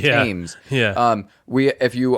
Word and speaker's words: Thames: is going through it which is spelled like thanes but it's teams yeah um we if